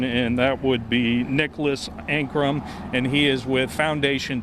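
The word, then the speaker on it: Ancrum: It's Ankrum, A, N as in Nancy, C-R-U-M as in Mary.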